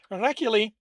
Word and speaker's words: Heracule: Heracule, like the way I'm rolling the R, feels like I'm adding an H there.